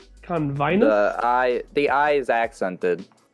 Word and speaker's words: Convinus: no by the way you're pronouncing the planet's name wrong oh it's convinced convinced i the eye is accented got it okay